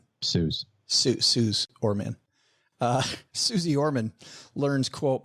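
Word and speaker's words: Suze Orman: Did do you pronounce it Suz or Suzy Orman? Suz Orman.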